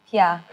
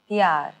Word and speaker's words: प्यार: Pyar. P-Y-A-A-R. Pyar. Pyar.